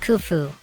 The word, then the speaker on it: Khufu: The pyramid built by the pharaoh Khufu, pronounced Khufu, was originally 480 feet high, and is made up of over 2.3 million stone blocks.